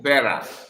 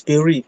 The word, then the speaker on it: Berry: No, you you I said you Bera. Is that how Is that how you pronounce this your name? No, it's Berry. Berry.